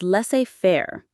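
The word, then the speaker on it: laissez-faire: Number 11 is less fair. L A I S E- F A I R E. Leair. The IPA is less fair. The s in less is silent.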